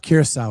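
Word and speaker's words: Curaçao: Uh, kerous is how it's pronounced.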